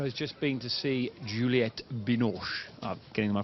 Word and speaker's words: Juliette Binoche: 30 today sara has just been to see Juliette Binoche getting my pronunciation right thing that's correct I called a